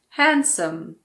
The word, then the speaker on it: handsome: Handsome.